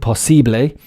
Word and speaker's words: possible: As you can see, possible, LE at the end, possible, like in French or Italian or Spanish. But in English, of course, the pronunciation is EL.